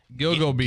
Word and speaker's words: Gilgo Beach: It's Gilgo Beach.